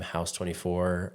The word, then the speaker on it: Haus: Um, so I I added that in there and I just like the name house 24. Um, the stretch is like the hu is like the German pronunciation and like my last name is German, like family German.